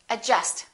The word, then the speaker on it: adjust: we say yat okay silent d adjust don't say adjust say adjust adjective all right silent l